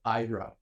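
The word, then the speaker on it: Aira: is an app called Ira it's a i r a that's how it's spelled a i r a but it's pronounced IRA and Ira stands for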